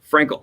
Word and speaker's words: Frankel: In case you're interested, pronounced like ankle. Frankel.